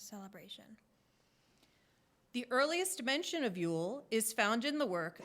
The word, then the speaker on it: Jól: in the festival of Yule, spelled J-O-L, with the J pronounced as a Y. And that explains Brynja's name with J-A sounding like yeah. Jól is the word for Christmas in Iceland.